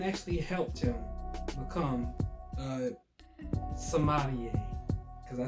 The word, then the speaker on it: sommelier: And eventually his dad came around and actually helped him become a sommelier.